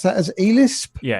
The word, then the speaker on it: Elisp: And this passion has grown so much that I have learned the ELISP, would one pronounce that as ELISP?